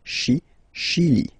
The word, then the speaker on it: Chili: Okay, remember, C-H, sh. Okay, Chili.